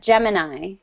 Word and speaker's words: Gemini: In English, we would pronounce that Gemini.